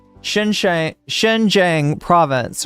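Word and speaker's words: Xinjiang: me out here chat is it Shen xang Shen xang yes Shen Jang there we go the x is like a sha Shen Shang Shen Jang Province right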